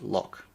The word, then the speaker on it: Lough: The name only makes sense if you know Lough is pronounced Lock.